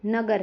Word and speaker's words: नगर: जैसे कमल है, नगर है, इन शब्दों में म और ग पर ज़्यादा जोर दिया जाता है।